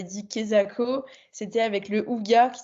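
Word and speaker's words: hygge: Et aussi, j'avais noté, et d'ailleurs Anne m'avait dit Kezako, c'était avec le Houga qui s'écrit Ige, H-Y-G-G-E.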